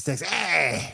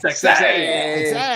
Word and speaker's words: Sexay: I will say, no, you ain't said it right. Grandmaster Sexay. Sexay.